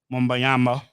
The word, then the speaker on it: Wembanyama: And it's widely expected and assumed that Victor Wembanyama You is said it gonna right.